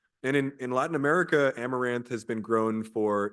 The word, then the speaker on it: amaranth: that plant is amaran a m a r a n t h amaranth yes sound per yeah in in Spanish it's amaranto and there's an there's